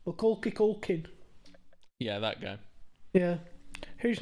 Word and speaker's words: Macaulay Culkin: I pronounce his name different every time I say it. Milky Culkin. Macaulay Culkin.